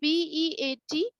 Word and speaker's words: beat: देखो इसका almost sound same तक है ना, सॉरी क्या लिख रहे हैं, bit, BIT, bit, and the other word is BEAT, beat।